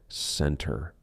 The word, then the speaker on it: center: Usually, if the T comes after an N, we drop that T and we do not pronounce it center. No, it is not center. It is almost like we are spelling it center, center. I will meet you in the center of town, not center.